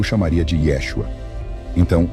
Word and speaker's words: Yeshua: Sem o A final, o nome provavelmente soava menos como Yeshua, com aquela sílaba final proeminente rimando com palavras como vírgula ou iguana, mas mais próximo do que o Dr.